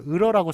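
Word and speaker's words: 읊어: 을퍼 발음은 을퍼입니다.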